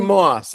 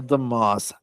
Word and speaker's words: deMause: deMause, did I pronounce your last name correctly? deMause. It's no reason to deMause. expect it to be pronounced that way, but that's how it's pronounced. deMause.